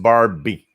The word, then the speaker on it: Barbie: so WWV H of voices Jane berm or Barbie so it's pronounced Barbie Jane's Barbie Jane Barbie as an American voice actress and